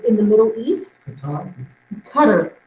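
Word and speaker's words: Qatar: break this is pronounced cutter that's how you pronounce this town it's or not Town Country it's in the Middle East cutter is how it's pronounced at least with the American pronunciation I don't know about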